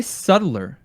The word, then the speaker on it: subtler: the subtler subtler subtler can you say subtler subtler spell it yeah i-t s-u-b-t-l-e-r and you're telling me that's you're just ignoring the b yeah rude the subtler